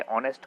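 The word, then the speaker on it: honest: Old customer and एन, इसमें भी एन आएगा क्योंकि एच साइलेंट है ऑनेस्ट का।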